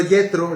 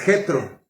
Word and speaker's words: Jetro: Muy Yetro, no es Yetro, nosotros la J no la pronunciamos así. Es Jetro, ¿verdad?